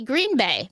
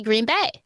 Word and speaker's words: Green Bay: It's because a lot of people say Green Bay, but it's really Green Bay.